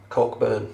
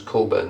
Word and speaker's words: Cockburn: We've got a city over here, Cockburn. Cockburn. No, it's not. It's Cockburn. The CK is silent in Western Australia.